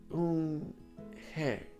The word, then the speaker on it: Unhei: "Yes, it's pronounced Unhei, and it means grace," Mr.